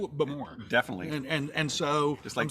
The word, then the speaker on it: Bowmore: is called bow more i struggle like i first heard it as bo moore emphasis on the first syllable when when i was there i think the emphasis is on the second syllable but more definitely and